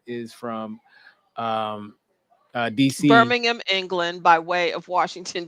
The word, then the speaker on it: Birmingham: of stuff you can't come over here saying Birmingham okay it's not Alabama it's not Alabama okay it's Birmingham yeah all right and then from here and